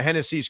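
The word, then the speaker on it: Génesis: loving the fact that it's spelled like genesis and so since kodai s is on the Mets the Mets now have SGA Genesis I hate to ruin this for you it's Hennessy I I don't know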